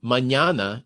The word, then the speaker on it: mañana: And you know, and then I learned that the soft N in Russian, the ñ, it's the second consonant of mañana in Spanish.